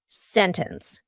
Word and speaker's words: sentence: t is just gone so here we have an NT usually plus a vowel and you're going to say sentence you can say sentence with a t it's fine but you're going to hear native speakers when we're speaking quickly you're going to hear us completely cut out that t sentence winter International internet